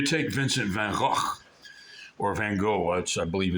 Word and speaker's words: Van Gogh: But the point is that, for instance, you take Vincent van Gogh, or Van Gogh, I believe it's correct pronunciation in Dutch.